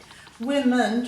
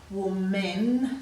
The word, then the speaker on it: women: one we say men, so that makes it a bit hard to say women, so we say women. So we have to change that sound to an it sound, but it comes from